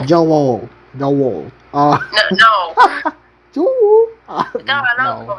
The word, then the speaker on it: Joel: You can literally say it with one syllable. Joel.